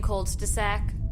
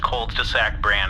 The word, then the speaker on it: Colds-de-sack: get the brand name Colds de-sack? (Transcriber’s note: Pronounced like cul-de-sac, but with “cold”) NERMUT: Yes, I can request Colds-de-sack cold packs /and/ cold sacks.